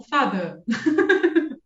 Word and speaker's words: Vater: Que eu não sou, não sei pronunciar o inglês britânico direito assim, não tenho sotaque britânico, mas seria algo como fada.